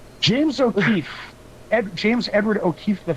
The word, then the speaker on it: O'Keefe: e e f e O'er no there's no r o'keef o'keef o truthfully ke